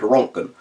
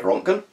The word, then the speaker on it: Röntgen: in a measurement called rongkhun now rongkhun is named after Wilhelm Conrad röntgen he was among a butchered pronunciation of the things a lot of German but roentgen was basically